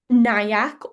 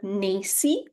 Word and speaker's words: NAEYC: NIAC or NACY is how I've seen it pronounced, or NAEYC, the National Association for the Education of Young Children.